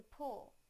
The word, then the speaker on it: pool: a sentence did you pull her into the pool did you pull her into the pool did